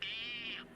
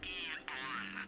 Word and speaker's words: Aeon: With the state of the world today, the Aeon program is Eon. I'm sorry? It's pronounced Eon.